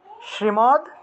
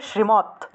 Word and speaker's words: শ্রীমদ্: হিসাবে হয়ে যায়, তাহলে শ্রীমৎ, শ্রীমৎ ভগবত, ঠিক আছে। ভগবদ না হয়ে প্রকৃত উচ্চারণ হলো ভগবত, ভগবত, ভগবত, ঠিক আছে, এটা প্রকৃত উচ্চারণ হলো ভগবত। আর শ্রীমদ না বলে শ্রীমৎ, শ্রীমৎ, এভাবে উচ্চারণ।